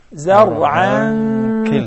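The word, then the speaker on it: زَرْعًا: Imagine if we connect it, then we'll say zar'an kilta. That is ikhfa haqiqi.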